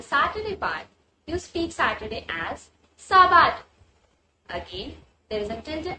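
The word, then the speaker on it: sábado: Now you must notice that on the 'A' there is a tilde accent as well as when we spell 'a', it is stressed a bit. So, it will be Saab-aado,double stress on the letter A.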